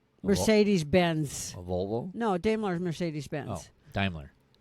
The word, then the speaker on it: Daimler: Volvo no daimler's Mercedes-Benz Daimler it's Daimler but anyways the German anyways um anywho Americans don't pronounce it right anyways uh I've never